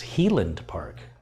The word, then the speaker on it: Highland Park: Kerry, Highland Park whiskey is pronounced as Healand Park. So a Highland cow would be a Healand coo.